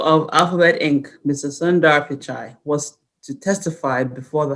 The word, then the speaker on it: Pichai: alphabet inc mr sundar pichai was to testify before the house and he was for he was referred to as mr pikai mr pishai now vice president harris